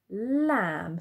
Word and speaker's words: lamb: you say, oh, lamb, why have we got a B on the end? Okay, it's because it's a silent letter. In English, we do have some of those silent letters. So it is lamb.